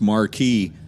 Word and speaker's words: Marquis: hour for the Mercury Marquee wagon so that's that's Marquee spelled Marquis uh just to confuse folks that's all exactly yeah that uh definitely not spelled out phonetically so Josh getting ready